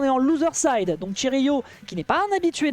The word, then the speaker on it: Cherryo: C'est une dinguerie de prononcer Chiryu. Ah, on dit Chiryu? Oui, c'est Chiryu.